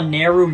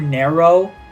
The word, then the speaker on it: Neru: I call Neru Nero. Instead of Rin and Len, I say Ren and Lin.